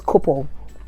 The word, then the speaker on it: Coople: And another helpful app that I've found, thanks to my friend Tolu for recommending it, is Couple. So it's spelled COOPLE.